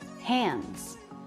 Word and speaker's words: hands: Gloves, or maybe you said hands. Again, D after an N before a consonant in the word hands. We usually won't say that D sound.